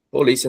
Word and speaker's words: polícia: Por exemplo, vamos pegar aqui a palavra polícia novamente. Polícia, vocês já sabem que é uma palavra paroxítona, certo? A penúltima sílaba vem acentuada.